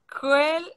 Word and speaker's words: quel: Quel, QU, c'est K. Quel.